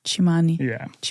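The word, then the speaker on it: Tsimane: Quindi, sì, la tribù che ho visitato in Bolivia si chiama la tribù Chimani ed è scritta T S I M A N E, ma si pronuncia come Chimani, tribù Chimani.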